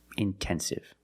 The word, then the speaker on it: intensive: But if the stress is after NT, then you have to pronounce the T like a pure T. Intensive.